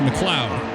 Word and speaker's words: MacLeod: even think of that it's like McLean but it's MacLeod okay we're gonna use